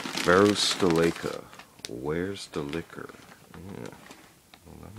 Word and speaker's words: Varusteleka: bag better gear for less let's learn pronunciation varus deleka where's the liquor yeah that makes sense okay